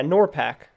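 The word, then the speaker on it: NORPAC: worst part what is nor pact or yeah nor pact that's how you say it Norfolk is a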